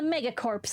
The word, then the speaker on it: megacorps: Yeah, I think if it's corpse in an army sense, the P is silent and it's just core. But in corporation, you still pronounce the P.